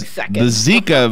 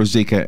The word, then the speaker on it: Zika: right there this like Zika virus by the way which we now know how to pronounce it correctly yeah there's two ways to do it it's either zaika or Zika and we picked cyka and we were wrong